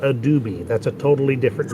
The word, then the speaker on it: Adobe: with people exactly exactly just remember is adobe and not adobe that's a totally different